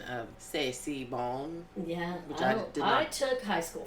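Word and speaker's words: C'est si bon: First, I want to say I'm very impressed with your authentic pronunciation of Sey Bong.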